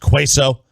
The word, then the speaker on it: queso: uh let's see uh by the way it's pronounced queso um in terms of you know i said